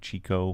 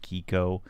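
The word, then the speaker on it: Chicco: and kiko ci chi cco chico but i think it's pronounced kiko those were the two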